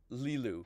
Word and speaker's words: Lilu: And it was funny because the other day I was calling them Lilo the whole time, and I realized their name is Lilu, not Lilo.